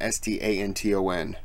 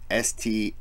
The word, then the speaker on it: Staunton: So my last name is Stanton, S-T-A-N-T-O-N, and he was born in S-T-A-U-N-T-O-N, but it's pronounced Stanton. But I was calling it Staunton.